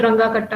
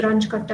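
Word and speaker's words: Runge-Kutta: It's ranch कट्टा method, do not call it ranga katta method, kutta, okay, it's ranch katta method.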